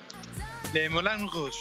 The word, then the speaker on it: Moulin Rouge: ¿Cómo se dice bien? ¿Cuál es correctamente el nombre? Le Moulin Rouge. Ah, Moulin, porque es Moulin.